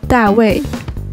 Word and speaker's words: 大卫: In Chinese, David is pronounced as 大卫.